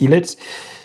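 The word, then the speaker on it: Ilett: So, Frank Ellet, not not Frank is a like pronounced the name. It's Ellet.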